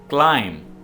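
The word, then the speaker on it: climb: के बच्चे को थे क्लाइंब अप लाइन का मतलब है ऊपर चढ़ना और इसमें भी भी साइलेंट है आपने भी को प्रणव नहीं करना है एक लाइन ऊपर चढ़ना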